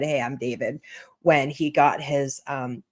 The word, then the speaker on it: D4vd: He goes by David D4 V D. I think that's probably like his online name. And then he just like took it and said, "Hey, I'm David."